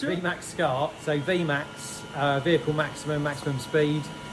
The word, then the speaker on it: VMAXSCART: Actually, how do you pronounce it? It's VMAXSCART.